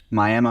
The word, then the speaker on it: Miami: bit bigger town was miam miam Oklahoma spelled like Miami Route 66 drives through